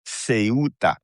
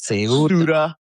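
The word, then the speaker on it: Ceuta: of this Spanish enclave the name is Sea. Okay, it's not Suda. It's not Suda. It's not Sata.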